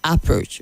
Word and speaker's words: approach: Approach and not approach. Okay, the stress is only on the second syllable, not on the first.